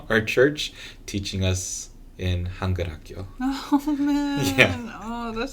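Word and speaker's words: 한글학교: she wrote, and then I forget how she pronounced the other part, but it's Hangulhakyo, and that means Korean school.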